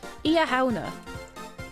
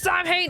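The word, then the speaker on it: Samhain: And basically, imagine reading it phonetically. It's nothing like that. That's exactly how it works. That's exactly it. It's not pronounced Sam Hain!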